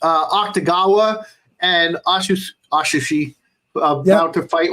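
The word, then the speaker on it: Atsushi: touched even aushi that's how you say it aushi that's it we haven't even touched like the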